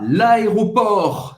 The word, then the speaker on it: l'aéroport: Então vamos começar no aeroporto em francês, a l'aéroport. Você não vai pronunciar o T no final.